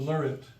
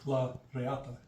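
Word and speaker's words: la reata: The lariat. Yeah. Yeah. For those people who mutilate the Spanish language and call it lariat, it's properly pronounced. It's la riata.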